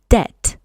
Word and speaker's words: debt: Zwróć uwagę na wymowę i nieme B, czyli nie wymawiamy tej litery, mówimy debt.